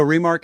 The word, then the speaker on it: remarque: So remark is spelled REMARQUE.